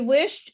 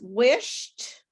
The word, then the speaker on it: wished: yelled at her so which of the words sound like alicia right this one okay what else he is yeah okay anything else so this is wished and this is kissed now one of the